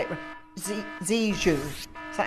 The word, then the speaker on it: Zhejiang: was out there in, I always say it, Zhejiang, is that how you say it? Zhejiang province, yes, thank you, and you, but if